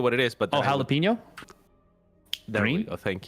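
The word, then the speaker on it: jalapeño: So I would use the English pronunciation a lot of the time, and I just always thought that for jalapeno it was jalapeno, right?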